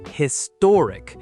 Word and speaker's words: historic: Another one, words ending in ick or ickle are almost always stressed on the syllable right before the ending. So we get economic, historic, geographic, photographic.